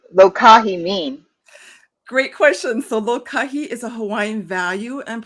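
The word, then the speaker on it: lōkahi: it's amazing and live live lokahi like live lokahi is that how you say it perfect yes this is kohai what does lokahi mean great question so lokahi is a hawaiian value and practice that means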